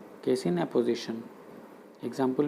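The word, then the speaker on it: apposition: ये ऑपोजिशन नहीं है, उसकी स्पेलिंग ओ से शुरू होती है, OPPO, लेकिन ये एपोजिशन है।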